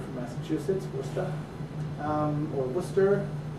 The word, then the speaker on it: Worcester: Massachusetts wora um or Worcester it's not Worchester which I made the mistake of calling it Worchester and they made fun